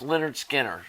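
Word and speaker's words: Lynyrd Skynyrd: mile from my house pronounced Leonard Skinner recorded at Studio One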